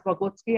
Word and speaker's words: Vygotsky: It is pronounced as Vygotsky. I have checked the pronunciation, and then it's Vygotsky.